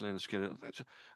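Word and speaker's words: Lynyrd Skynyrd: And I've got so many written down on a bit of paper here, you probably can't see, but yeah, pronounced Leonard Skinner.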